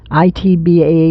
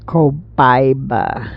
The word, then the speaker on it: Copaiba: It's COPITBA or something like that. Copaiba. I believe that's how you say it.